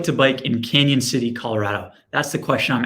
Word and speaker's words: Cañon City: bite there by the way it is apparently pronounced canyon city um you may think it is canon city if you just looked at it the pronunciation